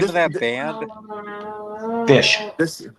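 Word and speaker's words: Phish: stoked to have this record how do you pronounce the name of that band fish fish yes oh it's called or fish you could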